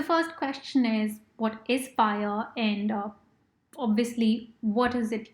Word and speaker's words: FHIR: about how to use fhir which is often pronounced as fire by doing a very detailed